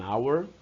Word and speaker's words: hour: Segunda regra, palavras iniciadas com H que tenha um som mudo. É diferente, quer dizer, o H não é pronunciado. Você só escreve a palavra com a letra H, mas não a pronuncia.